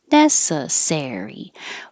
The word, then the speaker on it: necessary: three four legislature and the same thing happens with necessary you don't want necessary but necessary it this secondary stress happens with words that have four syllables or more so it's not going to happen with um shorter words but you'll hear the vowel and that might make you think it's also stressed but primary stress NE is higher and longer and ser is just longer necessary if it's a